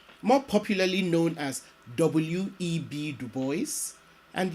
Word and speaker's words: Du Bois: Legend William Edward burgert Du Bois more popularly known as W.E.B Du Bois and yes Du Bois not DuBois and being faithful to the way he pronounced his name W E B Du